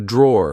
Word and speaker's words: drawer: Like I said, be careful because in British English, we don't pronounce the e at the end. We just say draw.